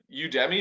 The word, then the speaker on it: Udemy: you can do to get better is it you debbie is that how you pronounce it guys yep okay yeah so the